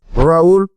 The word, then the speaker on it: Raoul: So my name is Raoul. This is how we pronounce it in French.